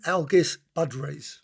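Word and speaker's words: Algis Budrys: wellknown Au there can never say his name algus Badr that's how you say it 12 to the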